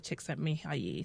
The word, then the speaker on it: Csikszentmihalyi: And I did my Googles and I found a number of videos and they all said Mihaly Csikszentmihalyi.